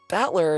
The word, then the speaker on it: Battler: Battler is named after the characters for fight and person, and it's pronounced Battler.